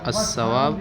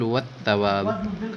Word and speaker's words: الثواب: الثواب هذا خطأ في التلفظ، فقل والثواب بالثاء لا بالسين.